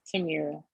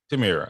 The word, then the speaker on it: Tamira: everything you just said, Tamira. Am I saying it correctly? It's Tamira. Tamira. Okay, perfect.